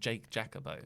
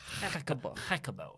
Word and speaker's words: Jacobo: My name is pronounced Bobo Jacobo. It's Spanish. I said Jake Jacobo. So Jacobo.